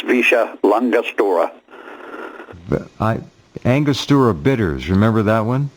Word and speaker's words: Villa La Angostura: Yeah, they pronounce it Visha. I don't know how LL comes out S's, but it's Visha Langostura.